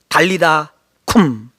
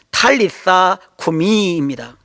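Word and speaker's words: טליתא קומי: 달리다 쿰. 원어로 정확히 발음하면 탈리사 쿠미입니다.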